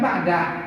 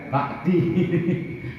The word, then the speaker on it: بعد: Dibacanya ba'da, enggak boleh ba'di. Enggak boleh ba'di. Sebab menunjukkan dzaraf zaman.